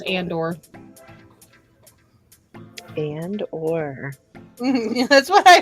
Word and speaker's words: Andor: Is that how you say it? Andor. It's Andor.